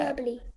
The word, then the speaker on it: hyperbole: Hyperbole.